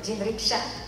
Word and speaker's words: jinriksha: I also rode the jinriksha. It was fun. Did I pronounce it right? Jinriksha. Perfect.